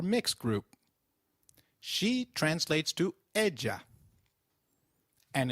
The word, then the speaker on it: y: Lise it means and it is pronounced same as the sound of the letter E in English so can you try saying e it is e all